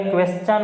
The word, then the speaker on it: क्वेश्चन: ओ एन होता है, तो एस के आगे एक मान लो TION आ रहा, तो यहाँ पर भी टी का उच्चारण किस रूप में करेंगे अपन, चेक के रूप में करेंगे। तो ये क्या बन गया, क्वेश्चन बन गया, क्वेश्चन यानी पर्सन हो गया।